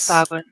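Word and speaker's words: Sahuagin: It's a Sahagwin priestess. Sagwin.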